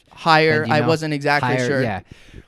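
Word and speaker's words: Hehir: Jason, do you know how to pronounce his last name? Jason Hare. Higher.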